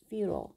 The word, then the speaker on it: futile: 이것은 is futile. 지금 이 단어를 보시면요. 발음이요. futile, futile. 미국식 발음은 futile. 그래서 futile, futile, futile. 그리고 영국식 발음은요. futile, futile. 그래서 이 I가 I처럼 발음이 돼요.